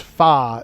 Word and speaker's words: pho: Is it foe or fa? It's It's pronounced fa in Vietnamese language, which is what the soup is.